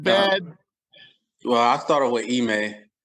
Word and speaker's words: Ime: Ime.